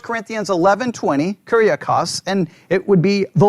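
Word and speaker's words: κυριακός: That's how it's translated, the Lord's, Kuriakos. Everybody got that word? Kuriakos? Everybody there? Just make sure. And if you want to spell that out, Kuriakos would be, if you're writing it out, Kyriakos. Kuriakos.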